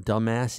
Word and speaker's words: dumbass: And Cammy, who'd been trying to get back at me ever since I pointed out to her that the bee in dumbass is silent, now she just stared straight into my eyes and laughed like a Halloween witch.